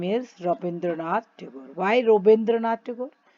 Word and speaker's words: Rabindranath Tagore: Why Rabindranath Tagore? Because he was a Bengali, and Bengali people, they pronounce the name like this only. So Rabindranath Tagore.